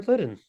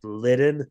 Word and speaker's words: Litten: That's an insider joke because uh I used to always say it like litten with a D, but it's Litten with a T.